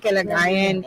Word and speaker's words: Kalagayan: I'm Kalagayan, and you did say it right.